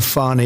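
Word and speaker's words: Fani: treated you very unfairly she goes by the name of fonnie even though it's f a n i she wants to pronounce fonnie she little little French little French accent and her lover and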